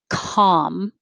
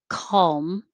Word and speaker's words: calm: obvious 18 obvious 19 has a different kind of l that you can just leave out completely if you if you need to want to calm with no l calm with a little l it's a dark l